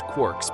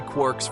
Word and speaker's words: quark: from James Joyce three quarks for muster Mark the word Quark is supposed to be pronounced like quart but with a k at the end instead of a t but is usually pron